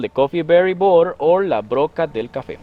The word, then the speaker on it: borer: You know the borers, the one that are on the B-O-R-E-R. I'm pronouncing the right way. Borer. Borer, yeah. Borer, exactly. Yeah.